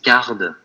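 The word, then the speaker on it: Carrd: Alors, ce qui ressort souvent, c'est Card. Donc, Card, ça s'écrit C2R3.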